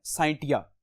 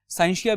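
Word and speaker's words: scientia: अब साइंस जो है यह एक लैटिन जबान लैटिन वर्ड है साइंटिया। यह उससे यह वर्ड निकाला गया है। साइंस जो साइंटिया है इसकी डिफरेंट प्रोनाउंसिएशंस हैं। कुछ इसको साइंसिया भी पढ़ते हैं।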